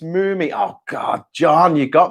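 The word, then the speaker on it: Mumy: Mummy is apparently pronounced Moomy.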